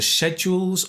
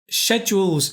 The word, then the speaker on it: schedule: Schedules is an interesting word, and I do know in America they pronounce it schedules. So if you said schedules, that's fine. If you prefer British English, we would say schedules.